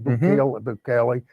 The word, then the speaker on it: Bukele: Bukele.